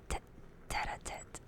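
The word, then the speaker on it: tête-à-tête: It's pronounced tater-tate, tet-a-tet, tet-a-tet, tet-a-tet.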